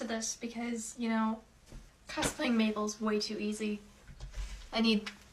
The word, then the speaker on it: Mabel: Mabel. It rhymes with table.